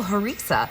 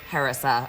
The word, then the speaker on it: harissa: hares isn't it um but I believe here we would say harisa or something like that so all those words are pronounced differently depending on where you're from well let's dig into